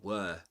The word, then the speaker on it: were: This one in well the the e at the end is silent. You don't pronounce it in neither in British nor American English. Don't pronounce it. you. But um in British English you say were were except of course